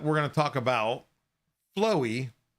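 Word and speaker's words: FLOVVE: And last up, we're going to talk about Flowy E 3D printer / injection molding. So it is FLOVV-E, but it is pronounced Flow. It's a little thing there with the V's making a W.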